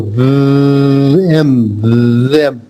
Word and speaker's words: them: Just pretend there's about 3 H's. You go them. Whoop. Yeah, so you go them, okay? Put your tongue out. and make that sound like a mosquito in your ear.